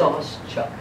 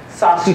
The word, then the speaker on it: Sauschuck: I have very little ego, so I actually would love to know how you pronounce it. Sauschuck. Sauschuck.